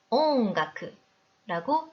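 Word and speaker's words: 音楽: 겐다마 발음 응 뒤에 카와 가행이 오면 우리말 이응으로 발음을 해야 하는데요. 음악을 나타내는 일본어 네, 온가쿠라고 읽으면 됩니다. 온가쿠로 발음하지 않도록 4박으로 읽어주세요.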